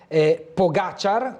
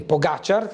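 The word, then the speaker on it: Pogačar: via mail, la pronuncia, la dizione corretta del ciclista è Pogacar, con l'accento sulla prima A, come mi scrive Giorgio, lo ringrazio, che non sono esperto di ciclismo e quindi ho sbagliato la pronuncia del nome, quindi Pogacar, l'accento sulla A e poi C-I-A, e quindi insomma giusto per completezza.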